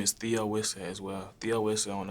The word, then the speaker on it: Theo Wisseh: A lot of people get confused and say the O Wisseh or the Owen or something like that.